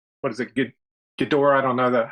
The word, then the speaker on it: Ghidorah: And then along those lines, so here's Red Dragon, gonna make like a, what is it, Ghidorah?